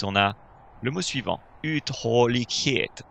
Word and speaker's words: uthållighet: Alors, on a un U en début de mot qui est très long. Uthållighet. N'hésite pas à faire un peu de théâtre quand tu prononces le suédois pour être bien sûr de suivre ce rythme qui est si différent du rythme français. Donc imagine que tu divises le mot en 3. D'accord? On a 3 vagues.